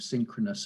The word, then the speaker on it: synchronous: just be careful yeah so where's the stress here at the beginning or at the end listen beginning thinking beginning good beginning synchronous i think it's